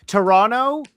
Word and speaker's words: Toronto: Toronto. And that's how you say it. If you want to sound like you're from here, do not pronounce that last T. Toronto is USA anywhere.